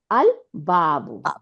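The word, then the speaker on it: الباب: বা দিয়ে দেখেন বাটাও কামারিয়া ওয়ার্ড, কি আল বাবু, বাটা লাম উচ্চারণ হইলো।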